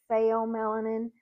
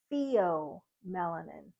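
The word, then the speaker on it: pheomelanin: that would be theom melanin now some people pronounce it fom melanin but if you look at how the text breaks it down it is Theo melanin and that's for your lighter skin tones um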